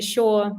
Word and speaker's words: Shaw: My name is Shaw, and a very small icebreaker and funny one. So, my surname is Polish and it's pronounced like sure, like the word that you know, like I'm sure.